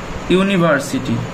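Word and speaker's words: university: আবার আরেকটি উদাহরণ দেখি যে study ST ইউ ডি Y study in ইউনিভার্সিটি ইউনিভার্সিটি।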